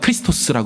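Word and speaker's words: Χριστός: 기름부음을 받은 자라는 뜻이죠 헬라어로는 크리스토스 발음하고 히브리어로는 메시아라고 발음하지 않습니까 근데 우리는 배우기를이 그리스도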